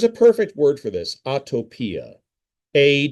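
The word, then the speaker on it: atopia: Autotopia.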